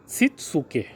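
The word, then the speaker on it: 躾: चौथा होता है सिकेट्सु और पांचवा होता है सित्सुके। यही इसका प्रोनाउंसिएशन होता है।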